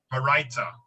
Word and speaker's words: Baraita: It is taught in a, how did you say to pronounce it? Baraita? Baraita.